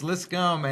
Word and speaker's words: Liscum: It's Liscum, and so a lot of people go, "Hey, are you related to?"